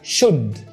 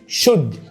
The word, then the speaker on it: should: بص كده اهي O U L D هنطقها ايه؟ should. تاني should.